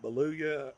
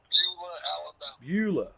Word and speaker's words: Beulah: name over to you baluya however how you pronounce it coach beulah that's it you said that to